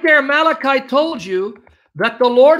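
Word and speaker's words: מלאך: Even though it's spelled malach, it's malach.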